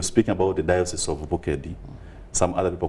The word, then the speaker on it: Bukedi: diocese if you speak about the Diocese of bukedi some other people call it bokeh dialysis so the right pronunciation is the Diocese of vocadi so we have 10 diocese together where the